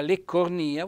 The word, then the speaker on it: leccornia: vocabolario e andate a cercare la parola leccornia voi vedete che c'è un bell'accento tonico sulla i edile o edile edil